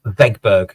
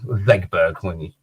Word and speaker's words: Wegberg: old, we went to Vegberg, Germany. Vegberg, yeah. It could have been Old English. It's spelled Wegberg, but Vegberg.